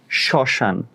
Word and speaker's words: শ্মশান: মফলা থাকলে হবে না, মফলা শব্দের শুরুতে থাকলে হবে। মফলা শব্দের শুরুতে থাকলে, মফলা শব্দের শুরুতে থাকলে সেই বর্ণের উচ্চারণ হবে অচন্দ্রবিন্দু। তার মানে এই যে দেখো,